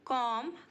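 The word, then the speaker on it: comb: hanging wires बाल बनाना कॉम कमड कमड यहां पर हमारा बी साइलेंट है मैं तुम्हारे बालों में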